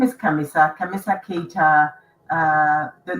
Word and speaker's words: Khamissa: my dad comes from, it's gonna be pronounced Khamissa. So the H is silent, but they will say Khamissa, and Khamissa in Arabic means actually the 4th.